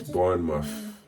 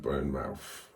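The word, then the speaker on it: Bournemouth: been doing really good it's burn muff not burn mouth it's muff anyway get your pronunciations right uh I don't I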